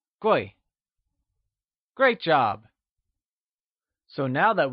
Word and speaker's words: Guì: Gui is pronounced in the falling tone. Can you say Gui?